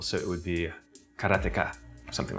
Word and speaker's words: Karateka: And so I grew up my whole life calling it Karateka. Okay, I pronounce it Karateka, but I'm pretty sure that's wrong.